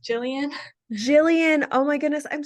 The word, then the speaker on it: Gillian: you this in advance my name is pronounced Jillian Jillian oh my goodness